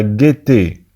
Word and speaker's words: gaieté: انتبهوا معنا تكتب la gaieté لكنها تنطق la gaieté.